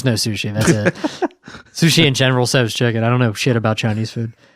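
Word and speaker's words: General Tso's: I'd get like sweet and sour shrimp or General So's chicken. And that was like pretty much it. Yeah. Thank you for pronouncing it general.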